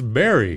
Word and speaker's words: bury: I said, "It's berry. Berry. It doesn't. No, you don't eat berry.